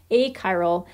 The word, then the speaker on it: achiral: as being a chiral sometimes people want to pronounce that a chiral um it's a hard ch sound so it's a chiral a chiral and that just simply